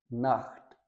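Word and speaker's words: Nacht: फिर देखते हैं अगर सी एच से पहले ऊ, ओ या फिर आ जाए, ऊ, ओ या आ, तो हम इसको खे की साउंड से पढ़ेंगे। जैसे औख, नोख, बुख, नाख्त।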